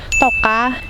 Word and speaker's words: Tauj Qab: In Hmong Leeg dialect, lemongrass is pronounced differently. In Hmong Leeg, we call this Tauj Qab.